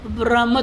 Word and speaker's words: ब्रह्म: वो ब्रह्म तो बोल नहीं पाएंगे, बारहाम बारहामा ऐसे कुछ बोलेंगे उल्टा सीधा।